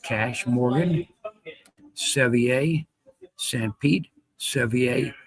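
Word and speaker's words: Cache: Dagot a cash cap pronounced cash Morgan Sevier San Pete Sevier Pyute Sevier Rich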